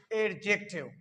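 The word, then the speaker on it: adjective: फिर दूसरा हमारे पास लफ्ज है एडजेक्टिव। व्हाट इज एडजेक्टिव, यानी इसमें डी साइलेंट है।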